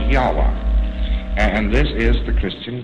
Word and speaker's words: Yahweh: So Lord knows how this word is to be pronounced, but more agreed upon pronunciation among scholars so they can talk about it is Yahweh.